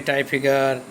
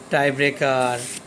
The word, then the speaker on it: টাইব্রেকার: নাম্বারে আসছে টাই ব্রেকার এই টাই ব্রেকারটা বিভিন্নভাবে টাই ফিগার টাই ব্রেকার মানে যে অনেকে অনেক ভাবে এটারও একইভাবে অর্থ